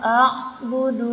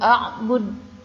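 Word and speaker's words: أعبد: Jika disukunkan ya atau berhenti, maka dibacanya memantul, bukan a'bud tapi a'bud, ya, bedakan ya. Yang salah itu a'bud, yang betul a'bud, bud. Nah itu pantulannya di sana.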